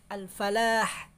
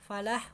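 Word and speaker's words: الفلاح: lafaz Highland panah hahaha al-falah Falah huruf a lam baru huruf terakhirnya itu ha ha jadi hayyinah harus dijelaskan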